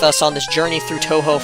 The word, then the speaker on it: Tohjo: on this journey through Toho Falls or Tojo Falls or however you pronounce it. Uh, I think it's Tohjo, right? Because Tohjo is you think of like the video game I think of like the video game franchise when I hear Tohjo and that is spelled